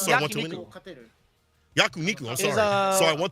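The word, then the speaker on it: 焼肉: Kawano says today, I'm going to eat, how do you say, yakunin? Am I saying yakunin? After this, so I want to win. Yakuniku, I'm sorry.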